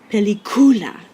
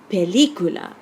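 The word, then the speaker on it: película: in a vowel so if we followed rule one the stress should be on the second to last syllable and we would say pelicula pelicula but that's not what we say we say pelicula since we've broken rule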